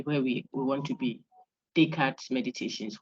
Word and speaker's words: Descartes: So day, then the car, the TES is silent, it's French. So like day today, and then car, driving your car. So day car.